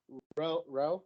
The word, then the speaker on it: Row: That is Samuk Row. Did I say it right? Row. Yeah. Like the, yeah.